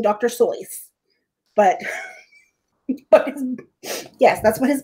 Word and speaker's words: Seuss: and you shouldn't rejoice if you're calling him seuss he pronounces its source pronouncing it that way right but yes apparently it should we're sure we should be saying dr soyth but yes that's what his buddy wrote wow